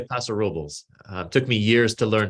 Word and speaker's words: Paso Robles: it almost right it's paso robles though the the full name of the town in like its original spanish is el paso de robles but the locals say paso robles took me years to